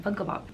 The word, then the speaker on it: Funko Pop: I said it right this time, Funko Pop.